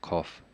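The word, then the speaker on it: قَ: For example, 21, the letter itself is Qaf. We call it the letter itself, the name is Qaf. But when there's a Fathah on top of it, the pronunciation is Qa.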